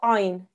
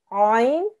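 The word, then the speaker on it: ʿayn: Ayn comes from the middle of your throat. If you put your fingers on the middle of your neck, okay, that's the where the place where the sound should come from, okay?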